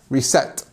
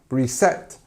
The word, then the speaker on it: reset: look here we have reset reset your phone okay um select notice how the stress is on the second part of the word here reset select okay not my